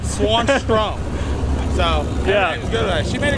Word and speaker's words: Swanstrom: hard to pronounce yeah just how it spelled is how you say it swanstrom so yeah she made